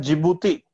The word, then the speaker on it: जिबूती: डी से शुरू हो रही है, ध्यान रखना, जिबूती। डी से इसकी स्पेलिंग शुरू हो रही है और उसको प्रोनाउंसिएशन है जिबूती।